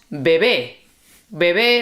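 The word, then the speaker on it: bebe: Okay, one thing with the third person which is baby is not baby. Be would have an accent on the second e and that means baby be. Okay, this one is baby be not baby.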